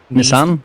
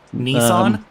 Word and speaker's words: Nissan: you guys say niss Nissan Nissan Nissan yeah which it sounds wrong in an American accent but that is the Japanese pronunciation of Nissan and is Nissan are